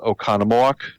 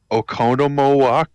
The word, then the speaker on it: Oconomowoc: pronounce them so the the city is oconomowoc and he was like okonomo yeah and then uh